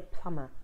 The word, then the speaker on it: plumber: working it's called the plumber so there's no need to say the B sound plumber PL um